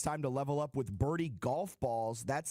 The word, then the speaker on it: Birdie: your wallet, it's time to level up with Birdie golf balls. That's spelled B1RD1E.